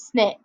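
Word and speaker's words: SNCC: Nonviolent Coordinating Committee and the best way to remember them is pronounced it is snick that's what they you know their nickname was that's how it's pronounced that's what short for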